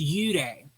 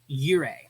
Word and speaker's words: 幽霊: computer and the airwaves, it's pronounced, in Japanese, it's pronounced Yūrei. But if we Anglicized it, it would be Yūrei. So that's spelled Y-U-R-E-I, Yūrei.